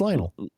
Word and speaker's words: Lionel: Lionol Messi. Lion Messi. Do you not know Lionol Messi? Lionel. No, it's Lionel.